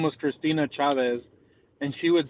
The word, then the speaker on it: Chavez: It's just Cha and then Vez. Yeah. I like Chave. When you start changing the whole fucking name to you want to change the whole pronunciation of it, Chavez.